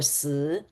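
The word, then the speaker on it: 四: I'm Chinese American, and in Chinese culture, the number four is bad luck because it has the same pronunciation as death or si.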